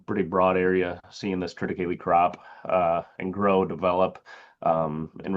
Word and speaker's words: triticale: Triticale is the hybridization of tetraploid durum wheat and diploid cereal rye. It is pronounced triticale.